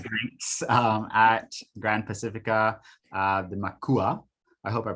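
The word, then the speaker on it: macuá: drinks at Gran Pacifica, the Makua. I hope I pronounced it properly. How do you pronounce it, Gio? Makwa.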